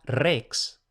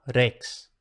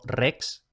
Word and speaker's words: rex: Ahora bien, si la R aparece a principio de palabra, se supone que en latín también era R simple. Entonces, en principio no era rex, como sería en español, sino rex. Yo personalmente creo que es absolutamente aceptable pronunciarlo rex. Quizá intentamos no exagerar demasiado la R. Entonces, rex o rex. Las dos valen.